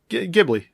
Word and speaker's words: Ghibli: What did we decide we're pronouncing it? Ghibli.